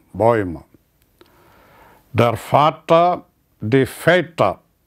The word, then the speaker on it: Väter: Der Vater, die Väter. Umlaut is pronounced as Väter.